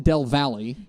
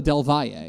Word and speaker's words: Del Valle: and one in Austin, and they are pronounced differently. It's Austin Del Valle. Yes. And it's El Paso Del Valle.